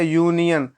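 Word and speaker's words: union: अब देखिए यू, तो इसको बोलेंगे क्या, पढ़ेंगे क्या, यूनियन, ना यूनियन, तो देखिए आ गया क्या हो जाएगा, ए हो जाएगा।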